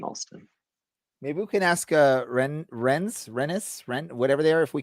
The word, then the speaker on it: Rennes: Maybe we can ask Rennes, whatever they are, if we can borrow Kobe Henry for a month. Nice. You don't really pronounce the N. It's just you just go right past it.